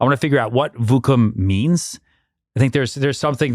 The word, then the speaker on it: Vookum: We've got Tyler, founder of Vookum. Pronouncing it right?